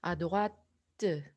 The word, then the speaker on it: à droite: 왼쪽에, 오른쪽에란 뜻인데 à droite 요거 발음 때까지 꼭 해주셔야 되는 거를 기억해 주세요.